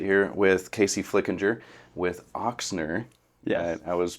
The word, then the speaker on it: Ochsner: get to sit here with Casey Flickinger with oxner I was mispronouncing it I was saying Asner everybody does and uh so oxer Chiropractic and